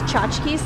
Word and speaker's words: tchotchke: You pronounce tchotchkes like that? We do, yeah. Right? Right, other native English speakers? That sounds about correct for how I understand it.